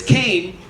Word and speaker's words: Kane: clarify it one time I told a barista it's Kane as in Cain and Abel when I